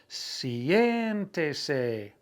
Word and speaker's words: siéntese: Where does the accent mark go? It's got to go 3 vowels back, right? Siéntese. Well, the IE is functioning as a diphthong. It's two vowels functioning as one sound, and it's going to go on the E. Okay? It's going to go on the E because that's a vowel that you hear more than the I. Siéntese.